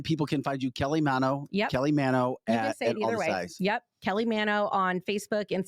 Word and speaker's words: Manno: Well, so the Italian pronunciation, it's supposed to be Manno, but my husband's family has always done Manno. And that's just, so people call me either one. But Okay. technically it is Manno.